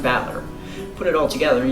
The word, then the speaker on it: Battler: problem's my own name battler is made up of the characters are fighting person and it's pronounced battler put it all together